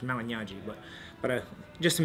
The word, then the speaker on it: Malignaggi: is that Mali so in Italian it's actually GN is NY so it's Mali but nobody ever gets